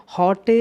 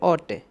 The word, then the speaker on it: haute: इधर या तो हॉटे इन द, अब देखो इधर ऑटे इसे बोलते ऑटे, ऑटे इन द विंटर। अब सही से प्रोनाउंसिएट करेंगे, ये फ्रेंच वर्ड है HAUTE, जो वर्ड दे रखा